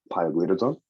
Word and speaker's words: pioglitazone: Pioglitazone and rosiglitazone. Yes, which rhymes with calzone.